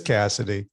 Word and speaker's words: Cassity: It is Cassity.